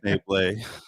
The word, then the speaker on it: Schneebly: Pronounced Schneebly.